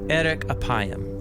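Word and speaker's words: ארך אפים: and way more interesting in hebrew the phrase slow to anger is pronounced erik apayam or literally long of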